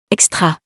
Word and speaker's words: extra: extra, As the X letter is followed by a consonant, and the consonant is not an H, then the second option is the correct one.